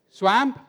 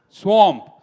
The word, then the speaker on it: swamp: swamp any other pronunciation swamp Okay why a swamp because in English language whenever you see the letter A after W it make the sound like a as in watch as in one as in wash as